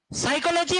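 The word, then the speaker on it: psychology: ये नाइफ है, कनाइफ है, नॉलेज है, कनॉलेज है, साइकोलॉजी, फाइकोलॉजी है। पी साइलेंट है, के साइलेंट है।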